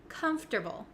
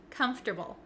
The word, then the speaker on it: comfortable: a little bit tricky there are some extra letters in there that we don't really pronounce and we switch around